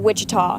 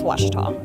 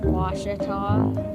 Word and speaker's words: Ouachita: Back in Texas, everybody pronounces it Wichita, but really, it's Washita. Washita. Washita. How would you pronounce it? Washita.